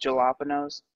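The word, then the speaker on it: jalapeños: Yes, just like It's pronounced jalapenos.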